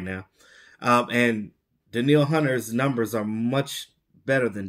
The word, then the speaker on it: Danielle Hunter: But no, it's Danielle Hunter.